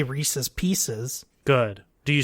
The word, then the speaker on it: Reese's Pieces: so it's Reese's and they chose a name of a product that rhymes with Reese's and that piece is